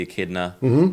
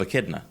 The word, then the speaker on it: Echidna: And then 5 hours later in the stream, when hearing it again, someone else said, that's actually the Japanese pronunciation of Echidna. Oh. It's Echidna.